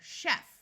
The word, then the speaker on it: chef: In words that we get from French, the CH, this should say CH here, will have the sound of sh, like in the word chef, which is a type of cook.